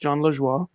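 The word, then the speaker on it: Jon Lajoie: It's pronounced John LaJoie.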